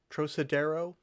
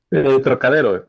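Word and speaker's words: Trocadéro: Trosadero is, am I pronouncing the title right, Roberto? Trocadero, yes, it's a viewpoint from.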